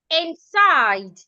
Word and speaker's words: inside: the second word inside inside you should stress the side inside inside beautiful please